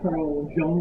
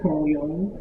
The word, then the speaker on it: Carl Jung: It's not pronounced Carl Jung, it's Carl Jung.